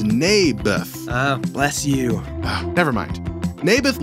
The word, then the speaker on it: Naboth: I like this little Nablers guy. You mean Naboth? Yeah, that's what I said. Mayberf. I think you're saying it wrong. His name was Naboth.